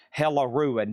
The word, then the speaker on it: Hella Ruin: That is spelled H-E-L-L, Hell E Ruin. Hella Ruin.